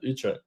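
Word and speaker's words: Utrecht: It's Utre. My best mate lives there. Utret.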